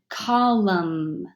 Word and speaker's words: column: psycho M and N the N is completely silent so you only hear the Elm mm as in column autumn hilm all right friends of